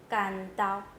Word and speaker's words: 关渡: And the third one is I heard different pronunciation of 关 in Southern Ming 关公 is called 关公 but 关渡 is called 干刀 Okay.